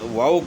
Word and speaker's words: واؤ: واؤ ہے۔ اور اس کے بعد واؤ کو جو ہے نا اس کا تلفظ، اس کی ادائیگی کس طرح بتانی ہے کہ دونوں ہونٹوں کو گول کرنا ہے۔ اس میں واؤ کی